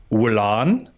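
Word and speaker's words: Gwlan: They've got a lovely DK called Wulan spelled G W L A N. I didn't do that very Welsh at all.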